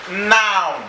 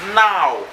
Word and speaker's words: now: You know, some people pronounce this noun. Noun. It's not noun, it's now.